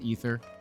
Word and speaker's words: Aether: No, Aether is pronounced Ether.